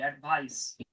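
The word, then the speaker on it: advice: জ উচ্চারণ হয়েছিল, এটা স হবে, অ্যাডভাইস। ইনসিস্ট, ইনসিস্টেন্স।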